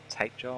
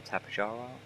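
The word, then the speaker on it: Tapejara: And then we've got a bunch of the, what's it, tape jar or tapajara, depending which way you want to pronounce it.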